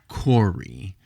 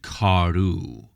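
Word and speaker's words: כארו: It's not kori and corei. It's kari and karu.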